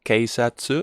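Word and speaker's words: 警察: This one is not keisatsu, it's keisatsu, keisatsu, okay? Long vowel.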